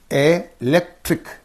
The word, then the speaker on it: electric: And here, electric. Ik is there again. What is the syllable preceding the suffix? Only this one. So, electric. What should you say? Electric. Right.